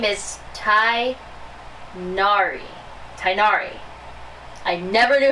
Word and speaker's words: Tainari: Oh, this is my master, Forest Watcher Tainari. Tainari, that's how you say his name. All the rangers here in Grand Arbor, though. That's how you say his name. His name is Tainari.